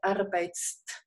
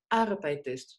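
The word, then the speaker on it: arbeitest: Entonces no podemos decir Arbeitst, ¿no? Es muy difícil. Agregamos una E fonética. La llamamos E fonética porque únicamente nos ayuda a pronunciar un poco mejor. Arbeites, tú trabajas, ¿no?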